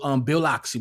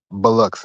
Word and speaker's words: Biloxi: And they made that right at the end and jumped on Route 90 and went to Bill Loxley, whatever you want to call it.